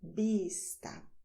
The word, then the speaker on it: vista: Vista. We do not use the sound v as in view in English, okay?